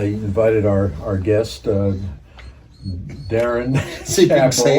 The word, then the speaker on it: Darin: Uh I invited our our guest uh Darren, correct? I will say uh I I've mispronounced his name now for four years. I've called him Daryl. What? It's not Daryl.